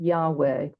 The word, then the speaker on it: Yahweh: included no vowels so in order to pronounce the tetragrammaton vowels are added and we get Yahweh but the sacred tetragramaton